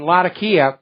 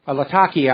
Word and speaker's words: Latakia: apparently in one of the terrorist positions in lakia Latakia I keep mispronouncing that the reason for that believe it